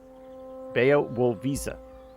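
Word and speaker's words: Białowieża: Bea wo visa. If we just remember this as visa... Bayo Wool. It's the low is pronounced wool. Bayo Wool Visa.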